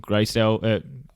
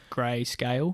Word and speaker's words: Grayscale: investors in in in bitcoin a company called graysdel greyscale not company but like like a hedge fund would you like some help pronouncing that one yes please cameron grayscale thank you so much here we go talk